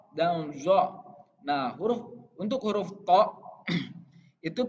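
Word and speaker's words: ط: Nah, untuk huruf to itu pelafalannya jangan keliru ya. Jadi ini bagian so, do, to, zo itu memainkan angin di bagian pipi.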